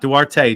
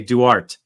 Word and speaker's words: Duarte: Greg, Steph, Matthew, Duarte, not Duarte, Duarte. The E is silent.